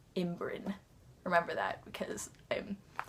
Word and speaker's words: ymbryne: loops and the ymbrynes That's how you pronounce it - you learn that in the third book imm-brinn, Y-M-B-R-Y-N-E, imm-brinn.